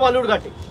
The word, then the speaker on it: বালুরঘাট: আরে আপনি যেখান থেকে লড়ছেন তার নাম ভুল উচ্চারণ করছে, বিকৃত করে বালুরঘাটকে বেলুরঘাট বলছে। আপনি গিয়ে বলতে পারেন না যে অমিতজি এটা বেলুরঘাট নয়, এটা বালুরঘাট? চাকরি চলে যাবে।